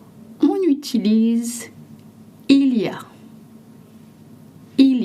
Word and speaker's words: il y a: Il a est parfois prononcé. Ilia is often and sometimes pronounced in spoken French.